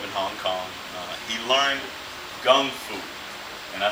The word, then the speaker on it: Gung Fu: He learned Gung Fu, and I say Gung Fu on purpose. That's the Cantonese pronunciation of Kung Fu, which we're more familiar with, right?